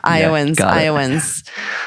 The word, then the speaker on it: Iowans: Yeah, Iowans.